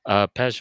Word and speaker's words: Pezh: I've got Pez, called all Pez.